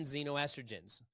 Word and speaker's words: xenoestrogen: You can use ChatGPT and type in xenoestrogens. List me sources of xenoestrogens, Xeno, estrogen, ESTROGEN, xenoestrogen. Sounds like a Z, but it's an X. It's like Xavier, right? It's spelled with an X.